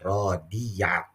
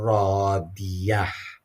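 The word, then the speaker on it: رَاضِيَة: Jangan rodiyah. Tapi fahuwa fi 'isyatir radiyah.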